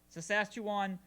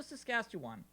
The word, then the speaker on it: Saskatchewan: Saskatchewan Sassafras.